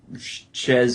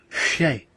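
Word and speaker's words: chez: Yeah, French, you gotta pronounce it the way it's supposed to be. It's Shay Amy.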